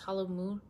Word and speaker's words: halloumi: Halloumi?